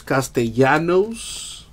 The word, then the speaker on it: Castellanos: We got for the Tigers, Nicholas Castellanos /375. A little pro tip for my non-Spanish speakers. If you see that double L, pronounce that thing as a Y.